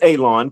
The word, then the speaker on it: Alon: My name is Alon pronounced like you're going to cut grass like you're going to cut a lawn. It's not spelled that way but it is pronounced that way.